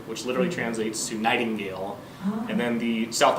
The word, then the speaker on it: Nachtigall: Sure, it's Nightingale. Like Earl Nightingale? Nightingale? So pretty much, yes. Oh, it's spelled Nachtigall. Yep. So if and linguists would get mad at this, and they have before. It's German, so Nachtigall, so it means night bird, which literally translates to nightingale.